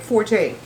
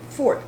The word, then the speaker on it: forte: correcting what you're saying let's take let's take forte the only time you're supposed to use forte